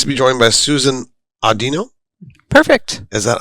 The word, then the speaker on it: Audino: we are pleased to be joined by Susan Audino perfect is that unpronounced that right perfect what's the Origins on